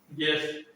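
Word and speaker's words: guest: गेस्ट, गेस्ट होता है, गेस्ट जो मेहमान होते हैं, इन्हें क्या बोलते हैं, गेस्ट या गेस्ट, ठीक है।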